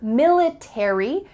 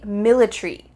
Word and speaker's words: military: final letters 8ry military in British English they often cut out the a so instead of military it would be military military that a is